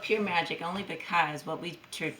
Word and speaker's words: Pyoor Majik: name in your business it's called pure magic it's a play on words it's spelled kind of funny i'm also an english teacher so it's spelled p-y-o-o-r-m-a-j-i-k so it's called pure magic only because what we